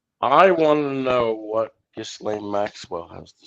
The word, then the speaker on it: Ghislaine: King, let's talk about 211 Republicans that voted to block Giselle Maxwell from being testified before Congress. It's pronounced Ghislaine or Ghislaine.